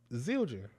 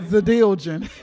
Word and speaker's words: Zildjian: No, it's how it's spelled. Zildjian. Zildjian. I never knew how to say it. The D side is Zildjian. Because I had named you Zadiljian.